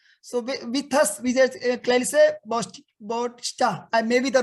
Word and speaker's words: Clarisse Bautista: So yes, you pronounced it right. It's Clarisse Bautista.